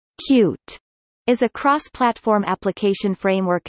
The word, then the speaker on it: Qt: Qt, pronounced cute, is a cross-platform application